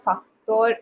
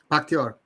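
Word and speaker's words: Pakhtakor: Most of the players come from Al Nassr, Faktor FC. Paktyor. Faktor, हाँ. It's spelled wrong, but anyway, yeah, Paktyor.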